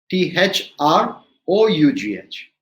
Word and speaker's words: through: where we've got through t h r o u g h it is like the o in two which becomes through so oug h becomes ooh through we looked at c